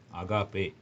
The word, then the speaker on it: agape: அகாப்பே. இந்த AGAPE அந்த வார்த்தை என்னன்னு சொல்லி பார்த்தீங்கன்னா அகாப்பே.